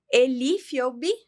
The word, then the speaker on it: Elie Fiogbe: Para isso, trouxe aqui o meu cacauzinho e tô oferecendo esse cacau pro meu convidado especial, Elifobi. É assim que pronuncia seu nome, querida?